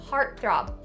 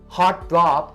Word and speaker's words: heartthrob: And for the last pronunciation point, you can either enunciate or stop the B sound at the end of this word. Heartthrob, or heartthrob. Just be careful and don't change it to the P sound. Don't say heartthrob, not correct. Heartthrob. Heartthrob can be used in 2 different situations.